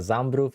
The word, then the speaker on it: Zambrów: We got Zambrów in the house. Yeah, W is pronounced as V.